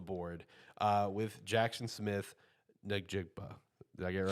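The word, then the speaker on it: Njigba: For me, I finally have my first wide receiver off the board, uh, with Jackson Smith, Nejigpa.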